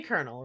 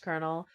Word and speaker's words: colonel: Because, yeah, it's supposed to be colonel, right? Yeah. Even though those letters should not be pronounced colonel.